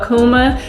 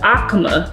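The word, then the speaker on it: AUCMA: first okay So and I've been calling it The Akuma one thing you're gonna learn about me I'll be mispronouncing all kind of stuff it is the Akama right a-u-c-m-a so that's what it's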